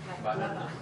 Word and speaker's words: banana: Banana. Banana. Banana. Banana. Banana. Okay. Right, okay, so where is the stress? It's on the second syllable.